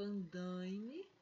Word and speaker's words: andaime: veja aqui mesmo tendo ue eu continuo falando andaime nas alisando lá e elaine nas aulas dando o é o nas realizado lá também não falo ela' e nem online ele falou andaime e elaine e o outro exercício a ação